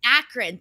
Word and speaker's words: Akron: it looks pretty nice outside I'm in Akron Acron Akron whatever the hell it's called Akron thank you I've been practicing that goddamn city